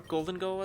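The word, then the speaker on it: Gholdengo: Reminds me of Goldango being the 1000th Pokemon, looking like a fucking award trophy. I did not like Goldango, or Goldengo as it's actually pronounced, I suppose.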